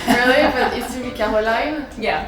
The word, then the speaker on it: Caroline: Because it's such a French name for me Yeah. too, that I just have the, how do you say, reflex, the habit to just say To Caroline. say it in the French way.